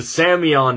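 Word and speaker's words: psammion: It's called Angustopila samion, and the samion doesn't mean like salmon. It's spelled P-S-A-M-M-I-O-N, which is, it comes from a Greek word for sand, because they're smaller than grains of sand.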